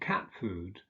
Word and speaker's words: cat food: Examples are silkworm and cat food, where the first element is stressed.